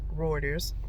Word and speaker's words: Reuters: reuters comes from reuters of the new source reuters reuters it's a tongue twister y'all reuters okay um the way you spell it is r-e-u-t-e-r-s okay i've referred to them